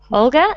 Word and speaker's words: Olga: how do you say your name my name olga and where are you from i'm from russia